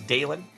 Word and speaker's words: Dalen: So again, folks, if you are new here, my name is Dalen. D A L E N, like Dale plus N.